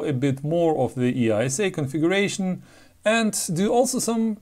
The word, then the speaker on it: EISA: used in PS2 machines EA which is properly pronounced EA if you believe Wikipedia stands for extended industry